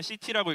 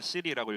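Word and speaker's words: city: 전사님은 시티라고 읽는데 누가 시리라고 읽었어요.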